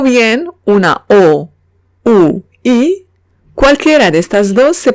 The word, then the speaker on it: oui: Si veo una U y una I, o bien O, U, I, cualquiera de estas dos se pronuncian oui. Ejemplo, oui.